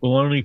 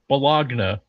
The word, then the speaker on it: bologna: Bologna pony. Yeah, it is weird that it's spelled Bologagna, but it's pronounced Bologna.